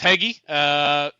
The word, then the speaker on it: Hege: So, last name's Hege. Nobody can seem to pronounce it. It's toughest four letters. See, why do you think I didn't embarrass myself? I was going to say Hege, and I'm like, no, it's got to be